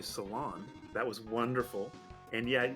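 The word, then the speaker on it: Selan: reflect well actually uh her name is pronounced seal and kinda like if you were to say see and one amped together so yeah I could see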